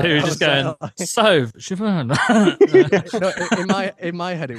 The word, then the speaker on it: Siobhan: And she went, oh, I'm Siobhan, ha ha ha. And I'm like, that's how you fucking say it.